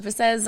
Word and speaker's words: Bessez: my name is besz I'm an international recording artist you got to say the how do you say that again bes a French okay wow I I've